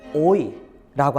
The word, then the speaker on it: hoy: 스페인어로 호의는 오늘이라는 뜻이에요. 발음은 오이라고 하는데요.